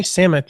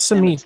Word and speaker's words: Samit: So on next week's episode, we're going to have an interview with Jay Samit, right? Isn't that how you say it? Jay Samit, yes. Not Samit like I thought it was.